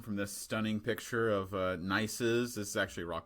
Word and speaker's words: gneiss: Hopefully, but that's what real gneiss looks like, and it is pronounced gneiss.